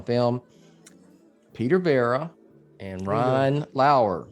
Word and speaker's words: Lauer: And with me are two senior contributors from Batman on Film, Peter Verra and Ryan Lauer, spelled like lower.